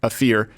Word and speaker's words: AFR: Okay, he's a man there who's been sort of the connecting point with the AFR Foundation, pronounced Afir, the Muslim Arab Youth Association, and the Qatari government directly.